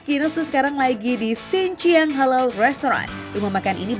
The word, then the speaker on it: Xinjiang: Bu, kalau boleh tahu nih sebelum saya pesan menu yang spesial ini, dibacanya yang benernya gimana sih? Xinjiang Xinjiang, gimana yang benernya gimana? Xinjiang.